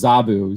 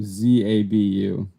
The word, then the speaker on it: Zabu: Here, maybe somebody else can pronounce this name because he says Zabu, Zabu.